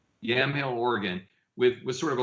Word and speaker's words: Yamhill: It tells the stories of struggling people in your hometown, Yamhill, right? Is that how I pronounce it? Yeah, Yamhill. Yamhill, Oregon, with sort of a larger story about inequality in America.